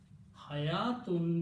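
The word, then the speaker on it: حياة: Okay, hayatun means life. This is written two different ways. You can write down very straight. Ha, ya, tun, life. Wow is written, it is not pronounced.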